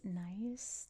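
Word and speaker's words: gneiss: It says this nice, I think is how you pronounce that, Gneis, nice, mace head from the early 3rd millennium BCE was found with a cremation burial at Stonehenge.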